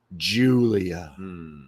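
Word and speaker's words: Giulia: comes nxt's newest sigy Julia Julia gulia is it just me or does she spell it weird it's g i u l i a it's the Italian Julia Italian Julia yeah Julia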